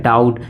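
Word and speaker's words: doubt: मतलब नहीं डाउट मतलब डी ओ यू बी टी क्या पढ़ जाएगा डाउट बी क्या है साइलेंट है डाउट मतलब कोई डाउट नहीं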